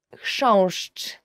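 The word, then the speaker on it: chrząszcz: will ever learn in Polish, as for the pronunciation, is książcz.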